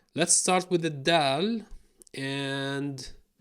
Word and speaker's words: د: Dal. I guess Dal's gonna be okay. The D of the Arabic alphabet. Pronounced the same in Fusha and slang. Da. Da.